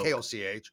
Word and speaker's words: Koch: I don't know how they pronounce it, but it's K-O-C-H.